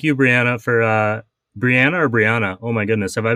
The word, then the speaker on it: Breanna: Thank you, Breanna, for Breanna or Breanna? Oh my goodness, have I been saying it wrong? It's Breanna. I'm on to either or Bree. Most people just call me Bree.